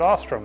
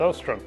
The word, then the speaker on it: Ostrom: time but here comes Ostrom Ostrom Ostrom is another name that i heard for the first time out loud yesterday I've always said Ostrom but it's Ostrom but Ostrom and his